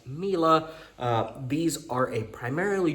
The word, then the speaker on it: Miele: Um I know I used to pronounce it quite wrong. I believe I said Milie, Mila, Milo, but as I've been told, these are pronounced Mila.